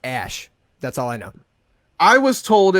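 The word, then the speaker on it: Æ: it AE a 12 the AE is pronounced ash that's all I know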